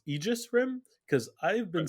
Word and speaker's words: Aegis Rim: to my embarrassment uh i realized that it's pronounced aegis rim because i've been saying it embarrassingly wrong for